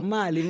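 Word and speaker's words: Mahle: Que é alemã e pronuncia Mali, e eu pronunciei como se uma americana fosse, dada a nossa origem. Essa pessoa aqui com viés americano, de empresas americanas. Não, é Mali.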